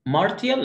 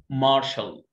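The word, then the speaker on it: martial: طب اللي وراها 1 2 3 4 5 6 ها قلت ايه؟ مارتيال، لا اسمها مارشال. مارشال مارشال طبعا دي الدايجرافز حروف مركبه.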